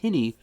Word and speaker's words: Hinny: this channel I reviewed uh hin it's not pronounced hiney it's pronounced hiny hard Seltzer and the guy that owns the